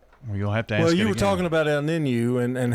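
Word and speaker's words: El Niño: El Nino.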